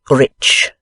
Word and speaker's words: rich: "Our English adverbs do not terminate in mong, and we pronounce the ch as if there were a t before it. We say rich."